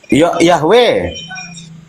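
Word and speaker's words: Yahweh: Yahwe.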